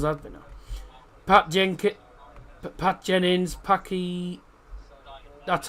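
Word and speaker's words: Packie: Paky. That's how it's pronounced by the way.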